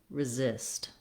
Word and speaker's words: resist: This first letter S says the Z sound, and the second letter S says the S sound.